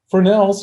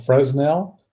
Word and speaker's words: Fresnel: one foot candle is equal to 10.76 lux fresnels are common lenses some people like to joke around i do and i like to joke around and call it fresnel but that's not correct the correct pronunciation is